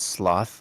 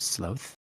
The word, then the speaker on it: sloth: A lot of people call it sloth, like the animal, but it's pronounced sloth.